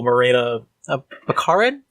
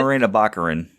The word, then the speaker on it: Morena Baccarin: read but Vanessa played by the ever beautiful marina a mcaren sorry if I pronounced correctly Morena Baccarin Baccarin okay I first saw her in the